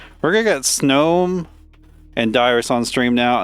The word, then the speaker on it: Snom: I really want to pronounce that word as Snom, but it's supposed to be Snom. Because it's snow.